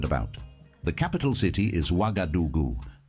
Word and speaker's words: Ouagadougou: The capital city is Ouagadougou. Ouagadougou.